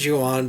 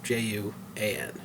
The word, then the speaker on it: Juan: They're called the Juan, spelled Juan, but they pronounce it Juan because their names are Julian and Anthony, so Juan.